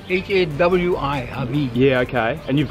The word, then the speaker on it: Hawi: So I've just bumped into one of the locals here and he's gonna tell me the exact pronunciation of the town. What is it? It's called Hawi. Hawi. H-A-W-I, Hawi.